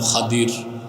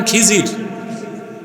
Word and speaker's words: খদির: এক বান্দা তার নাম খদির খাদির তো বুঝেন নাই যাকে আপনারা বলেন খিজির ওটার নামটা কি খদির আমরা বলি এটা ভুল উচ্চারণ শুদ্ধ উচ্চারণ কিতো মুসা